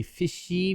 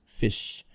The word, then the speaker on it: fish: or of a word you can just say fish asian speakers uh from some languages especially will tend to say fishy because it's hard to in the word without putting an extra vowel at the end that's kind of a transfer carry over from the syllable pattern of the first language of an asian student especially japanese and korean but in english it's fish you don't say fishy but fish you keep the tongue